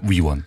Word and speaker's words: 위원: 의원이 아니고요. 위원입니다. 위원.